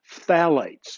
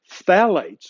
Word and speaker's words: phthalate: is called BPS, and the other is called phthalates. And it's the weirdest word ever. You spell it PHTHALATE, phthalate, okay? And that's something in almost every plastic product on the planet. There is either BPA, BPS, phthalates, or some other compound that is just as